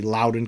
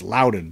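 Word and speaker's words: Loudoun: when I was doing the episode I was pronouncing it wrong somebody pointed out I was saying luden County it's actually Lowden County so I uh I made that dumb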